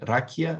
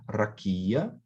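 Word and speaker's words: רקיע: palavra é essa, e a sílaba tônica aqui é o ki, rakia, né? Não é rakia, não é rakia, mas é rakia, certo? Então, a ênfase está no ki, rakia, certo?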